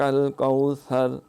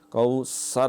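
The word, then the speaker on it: الكوثر: کاف پہ کلکلا۔ اعطیناک الکوثر، حمزہ اور عین، عین پورے اہتمام سے، اعطینا، طا کے اندر پچاکا ہے، اعطیناک الکوثر، کوثر نہیں کرنا، الآن، الآن۔ تو اس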